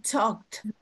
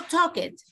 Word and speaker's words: talked: No talk it. No. Talked. Una T. Talked. Ya, la E no se pronuncia.